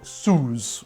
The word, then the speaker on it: Suze: so next i need this french aperitif called soos which apparently is correct it's pronounced sue's it's a liqueur made from the root of